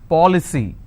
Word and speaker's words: policy: with cy for example policy how many syllables three paw ple c now here the rule says i need to stress on the third from right which means i will stress on paul i just bought an